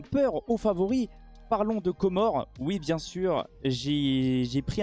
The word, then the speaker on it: Comores: Ça se prononce bien Comores.